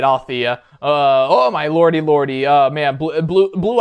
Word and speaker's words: Althea: Okay, so I was pronouncing it right, Althea.